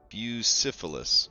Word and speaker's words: Bucephalus: to pronounce hold on how pronounce bucephalus bucyphilis okay so it is like the STD that's great so busyphilis um he flies in